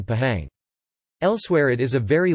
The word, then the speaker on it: Pahang: words such as al-quran H is pronounced clearly between like vowels as in Pahang elsewhere it is a